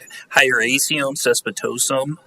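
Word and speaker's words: Hieracium caespitosum: us and and then tell us how to pronounce the uh Latin name of this weed yeah I'm here to talk about H highum cespitosum or Meadow Hawk weed and uh how we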